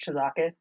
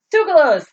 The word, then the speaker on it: Tsoukalos: I love George Chizakis. I think that's how you say his name. Tsoukalos?